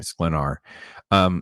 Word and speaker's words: Sklenar: Sklenar.